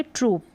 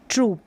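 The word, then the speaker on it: troupe: ट्रूप नहीं पढ़ेंगे, हम पढ़ेंगे ट्रूप। क्या पढ़ेंगे? ट्रूप। तो उच्चारण लॉन्ग ही है। मंडली, समूह या जो ग्रुप है उसको बोलेंगे ट्रूप।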